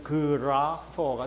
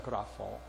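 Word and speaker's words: γράφω: 아 소리가 나고, 요게 이제 좀 다른데, 이거는 P라고 해가지고 영어의 그 F 발음이 나고, 이거는 영어에는 W지만 이게 그 헬라어에는 이제 O 소리가 나는 장모음 O예요. 이게 O, 장모음 O. 그래서 이걸 그대로 읽으면 그라퍼가 됩니다.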